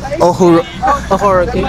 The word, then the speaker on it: Ohuruogu: British champion in the 400, you know, sister to, yeah, for y'all who don't know, she's her sister is Christine, pronounce her name. Ohuruogu.